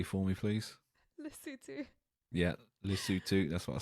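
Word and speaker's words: Lesotho: me yes what is lofo what's that again pronounce it correctly for me please lutu yeah lutu that's what I said so lutu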